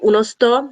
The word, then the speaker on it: Unosto: The group is called Unosto. It's spelled UNOSTO.